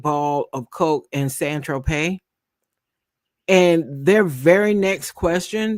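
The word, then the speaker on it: Saint-Tropez: The defense attorney says when you bought the 8 ball of Coke on Saint Tropez, pronounced San Tropez, you didn't tell Mr.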